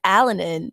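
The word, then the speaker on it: Alinen: wrong oh my God we've been saying alen and it's alanin yeah Al alanin yeah because it spelled like alanin and we were convinced somehow I don't know how this happened but we're like no you don't say like the other end I don't know how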